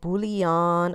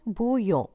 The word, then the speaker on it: bouillon: the way I've noticed a lot of people mispronounce this they call it bouillon I've heard all kinds of names of course you can call it whatever you want but the correct pronunciation is chicken bouillon how do I know this I took two